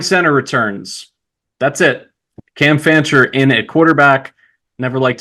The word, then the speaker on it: Fancher: I think Frencher or something like that. Yeah. I accidentally added an extra R in there.